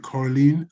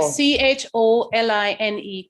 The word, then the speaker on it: choline: can you do this spelling for is it coraline could you spell it again for them okay c-h-o-l-i-n-e choline c-h-o l-i-n-e okay thank you i've got